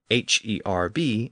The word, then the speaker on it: herb: e i r and the American pronunciation of h e RB as herb so this gives us